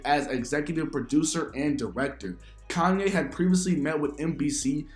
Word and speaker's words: Kanye: trying i'm sorry kanye oh i'm from ohio we say kenny that's how we pronounce it well i don't care where you're from you pronounce my name kanye oh okay let's go